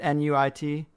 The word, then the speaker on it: Nuit: How to pronounce it, N-U-I-T? Yeah, Nuit. It's the Egyptian language didn't have vowels. Well, obviously it did, but the translations from hieroglyphics. So Nuit is NT. So it's Nut or Nuit, or it doesn't matter.